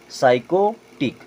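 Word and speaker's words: psychotic: पढ़ते हैं सूडो अब देखें यहां भी पी साइलेंट यह क्या हो जाएगा साइकोटिक क्या होगा साइकोटिक साइकोलॉजी आपने कई बार शब्द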